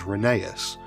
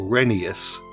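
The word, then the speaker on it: Rheneas: As previously mentioned, Jennings is the same type of engine as Reneeas or Renius since that's how you pronounce his name according to the railway series law.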